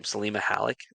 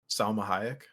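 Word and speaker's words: Salma Hayek: oh what's her name simma halik is that how you say it Salma haek Salma thank you I that I think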